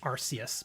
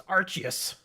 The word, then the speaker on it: Arceus: Apparently, the Pokemon company doesn't like people saying Arceus because it sounds like arse. It's like, no, it's Arceus. The hard C.